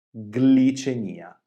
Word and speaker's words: glicemia: Ma quando abbiamo il nesso formato dalle consonanti G e L più la vocale I all'inizio della parola, generalmente abbiamo due suoni distinti. Glicemia, gl.